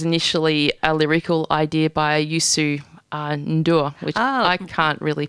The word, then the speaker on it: Youssou N'Dour: And Shaking the Tree was initially a lyrical idea by Youssou N'Dour, which I can't really pronounce. Yeah, How did I do with that? You did a good job, Youssou N'Dour, yeah.